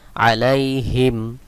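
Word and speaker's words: عليهم: হামিম হিম আলাইহিম আলাইহিম এখানে দেখুন মিম এর উপরে সাকিন দেওয়া রয়েছে অর্থাৎ এখানে কোন টান হবে না আলাইহিম অনেকে ভুল করে টান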